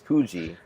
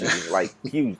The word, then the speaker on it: Poogie: So it's Poogie. Poogie, yeah, okay. It's Poogie, like pugilist.